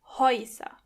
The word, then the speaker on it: Häuser: As you can hear, when the letter A umlaut comes before the letter U, together they are pronounced Oi. Häuser.